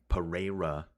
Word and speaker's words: Pereira: It's Pereira, right? Which is even that's still probably a little bit off.